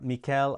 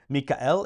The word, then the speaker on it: Michael: Michael is how you would say it in Latin, but it's Michael, and it's spelled exactly the same way.